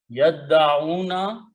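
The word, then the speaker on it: يَدَّعُونَ: Okay, and we don't pronounce this alif, and becomes, and una become una, yaf'aluna, yadda'una. Okay, yadda'una is the word in the Quran.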